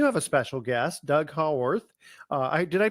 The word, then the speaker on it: Haworth: Now, today we do have a special guest, Doug Haworth. Did I pronounce that correctly? Yeah, that's good. Haworth, yeah.